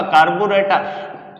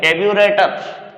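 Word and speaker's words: carburetor: फिर बात आती है, आपने एक वर्ड सुना होगा कार्बोरेटर या कार्बोरेटर, दोनों ही प्रोनाउंसिएशन रॉन्ग है। कैब्यूरेटर, कैब्यूरेटर, राइट प्रोनाउंसिएशन क्या होगा, कैब्यूरेटर।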